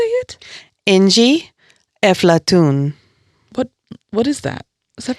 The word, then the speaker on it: Inji Efflatoun: Inji Efflatoun.